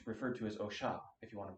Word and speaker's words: Osha: It's referred to as Osha, if you want to pronounce it correctly, but Osha.